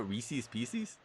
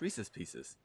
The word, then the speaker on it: Reese's Pieces: m's and popcorn too you call it reese's pieces yeah is that what they are the reese's piece uh it's reese's pieces oh whatever i know you're how do you say it how do you say it that's a that's the new england one that oh okay oh